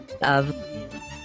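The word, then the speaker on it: אב: Note that the alef is pronounced as a long ah.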